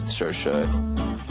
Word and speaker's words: Saoirse: mispronounced my name personally I say s it's sersha look it's just Sasha